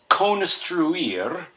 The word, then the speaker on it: construir: So we've got cone, strew, and then IR is pronounced ear, like your human ear, or our ears are designed for hearing. So hear and ear are just like ear that you see in construir.